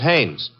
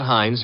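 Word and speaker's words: Haines: His name is Hannes.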